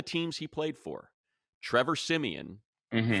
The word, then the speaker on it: Siemian: They always, all the teams he played for, Trevor Siemian, Hmm. phonetically pronounced, is supposed to be Trevor Simeon.